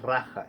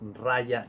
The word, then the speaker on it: raja: como rey como raja que la pronunciación en español es con la a por la pronunciación en hindú sánscrito la jota se anuncia como ya entonces no es raja es rayas yoga como el rap falla